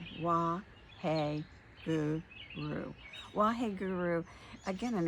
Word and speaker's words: Waheguru: Then on the exhale, we're using another mantra, which is Wa, W-A-H-E, hey, Gu, G-U, Ru, R-U. Wa, hey, Gu, Ru.